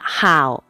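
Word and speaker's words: 好: รัก มาก คำ ว่า How ใน ประโยค นี้ ออก เสียง ว่า หา คำ นี้ แปล ว่า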